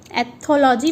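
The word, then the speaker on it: ethology: सो इसका प्रोनाउंसिएशन होगा एथोलॉजी, मैंने आपको बोल के तो बता दिया है, लेकिन आपको लिख के बताती हूँ मैं। EHA thaw, THAW thaw, LUH लॉजी।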